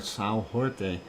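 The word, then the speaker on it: São Jorge: on the island of Sayo George or Sao horte if you want to say it in Portuguese if I said it right right Irish monk anyway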